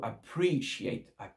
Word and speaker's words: appreciate: Donc, ici, c'est I do appreciate. L'accent tonique sur le PR.